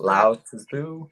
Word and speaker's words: Lao Tzu: That's Lao Tzu.